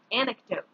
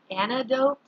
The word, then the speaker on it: anecdote: our first word is anecdote anecdote don't forget that c sometimes people say antidote or antidotes antidote is actually our